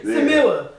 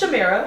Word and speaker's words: Shamira: Samira. No, so it's Shamira.